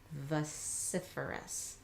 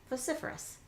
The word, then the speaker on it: vociferous: So some people may pronounce it with more of a long O sound. Vociferous. Great. Some people pronounce it a little bit sloppier with an sound. Vociferous. Either one is just fine, just depends on your dialect or your accent for whatever region you're in.